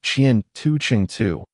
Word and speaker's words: 前程: The Ross say war means future and is pronounced chian tu chingu while chin pronounced chian tu